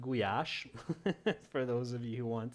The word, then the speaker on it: Goulash: I like more than any other is Hungarian Goulash it's actually pronounced GUI ash for those of you want to know so